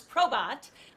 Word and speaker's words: PROBAT: Quick question, and I realize as we've been talking to you, Scott, throughout the interview here, I have been pronouncing the name of PROBAT incorrectly as PROBAT. So it's PROBAT.